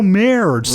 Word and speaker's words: Maris: He hates when people say his name wrong. They're like, it's Mikhail Maris. Right. No, it's Maris. So really got to emphasize it.